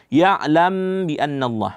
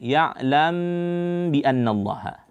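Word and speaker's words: يَعْلَمْ بِأَنَّ اللَّهَ: Ya'lam bi annallah. Di sini mim mati bertemu dengan ba, itu ikhfa syafawi. Nah, dibacanya ya'lam. Nah, bibir kita pertemukan dua bibir. Ya'lam bi annallah.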